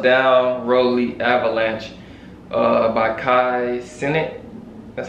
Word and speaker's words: Kai Cenat: is called buzz down rolly avalanche uh by kai senate that's how you say his name uh featuring